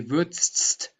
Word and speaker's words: würdest: You cannot pronounce a D and ST together. This would be würdest, which sounds very strange. So we Germans put an E in between.